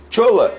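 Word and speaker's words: Shola: Quem é o Chola? É Chola mesmo que fala? Olha, eu falo porque, primeiro, ele é nigeriano, o nome dele é assim que se escreve, S-H-O-L-A. Aí eu pronuncio dessa maneira.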